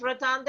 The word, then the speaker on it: Rotunda: Am I right, Rotunda, Yovka? Or how is it called? Yes, yes, that's right. Rotunda, yeah. You pronounced Okay.